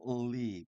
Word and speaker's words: leave: 자, 떠나는 것은 leave, 예, leave, L로 시작하는 이 단어는 맨 앞에 우리 막 을 하면서 읽습니다.